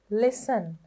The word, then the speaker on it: listen: Listen. Listen. බලන්න T එකක් ඇහෙනවද කොහේ හරි? Listen කියලා වගේ. එහෙම ඇහෙන්නේ නෑනේ.